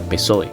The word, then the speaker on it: PSOE: secuencia de aparición ejemplo la sigla psoe se lee p soe las siglas mixtas con